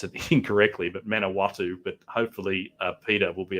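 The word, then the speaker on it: Manawatū: to september um is and i'm going to pronounce it incorrectly but manawatu but hopefully peter will be able to correct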